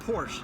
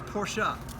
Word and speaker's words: Porsche: like hey guys FYI it's not Porsche it's porschea that's the word of